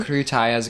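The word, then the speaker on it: крутая: So krutaya's girl, kruta's boy? Yeah. Yeah, I thought so. Because Yeah. the flowery extra syllable of Exactly.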